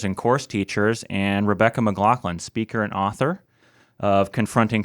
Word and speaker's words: McLaughlin: Your assistant helped us and let us know that it is indeed McLaughlin. But I wanted to ask, have you heard other pronunciations other than those three?